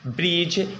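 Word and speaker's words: bridge: Silent होता है आपका, जी से पहले अगर आया है अक्षर, ठीक है ना, पहले आया है तो हम डी को क्या पढ़ेंगे, साइलेंट पढ़ेंगे।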